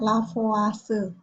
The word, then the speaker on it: Lavoisier: pembukaan masa penemunya adalah lavoisier tulisannya bacanya lavase Ya bunyinya gimana masa